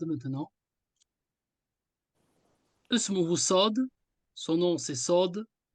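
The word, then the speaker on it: صاد: son nom c'est SOD c'est une lettre emphatique lorsque vous le prononcez vous ne devez pas sourire pourquoi pour ne pas le confondre avec le SIG le SIG vous avez dans l'omine vous avez c'està-dire les dents vous montrez les dents le S lui en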